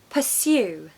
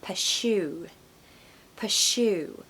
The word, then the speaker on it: pursue: cartoon Bears number two pursue the amount of times I hear people saying this as pasu pasu the important sound here is the little Y sound in the second syllable so you have to